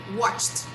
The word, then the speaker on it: watched: in the end so to make this verb in the past and pronounce correctly we have to say watched watched so this is also with a t sound watched so i watched